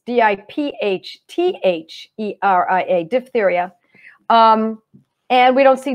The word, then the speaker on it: diphtheria: I know some people pronounce it dip diphtheria, but I see it as D-I-P-H. So I make the P-H like an F sound, diphtheria. So it's D-I-P-H-T-H-E-R-I-A, diphtheria.